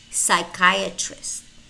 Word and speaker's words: psychiatrist: in which case the letter P is not pronounced. It's silent. Listen and repeat. Pneumonia, pneumonia. Pseudonym, pseudonym. Psychiatrist, psychiatrist.